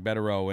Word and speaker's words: Bederow: Very pleased to have with us attorney Bederow. And, thank you, sir, for coming on the program tonight. Pleasure to be here. Am I pronouncing your last name correctly, by the way? Bederow, yeah.